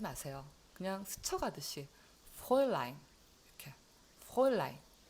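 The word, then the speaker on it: Fräulein: 그래서 이 F 발음은 F 하지 마세요. 그냥 스쳐가듯이 프로일라인 이렇게 프로일라인.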